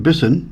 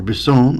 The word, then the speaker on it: Bisson: Murdoch, aka Yanick Bisson, or Bison, I think is how you pronounce his last name, is in this show, too.